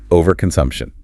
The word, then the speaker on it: overconsumption: overconsumption because it has five syllables and getting the stress right is key to sounding fluent. Good idea. The stress falls hard on the sum syllable. Overconsumption.